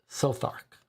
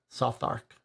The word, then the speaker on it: Southwark: Kings Henry Road southwark okay so southwark is pronounced sothark soft Arc and perspicacious says AJ Hunter means having a